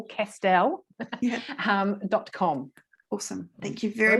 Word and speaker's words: Castel: So, so JayneCastel, so not Castle, Castel, .com.